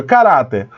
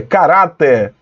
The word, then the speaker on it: caráter: que ser na penúltima veja caráter caráter mas olha Onde foi colocado o acento no cá Aí fica cara cara até cara até não tem como né É caráter é júri também Cerrado a